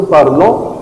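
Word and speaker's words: parlent: آخر ثلاث حروف مع الإل والإل أبيك إس مش بيتنطقوا. هم بيتكتبوا لكن مش بيتنطقوا. هتبقى اسمها بارل.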